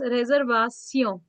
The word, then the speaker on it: réservation: Pronunciation changes, réservation, inauguration, nation.